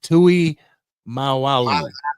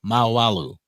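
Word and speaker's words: Tuimoloau: Tui Mal Malo how do you say that Tui maalu there you go maalu that's how you say it you get him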